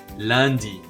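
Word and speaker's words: lundi: here's the good news the days have no silent letters in french and they are always lowercase so they're easy to say and they're easy to spell listen closely landi mardi mercedes fun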